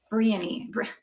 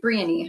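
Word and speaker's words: Bryony: This one is called Briany. How do you say that name? Briany? Briany? B-R-Y-O-N-Y. I never know how to say it. I should know these things. Briany, I'm pretty sure.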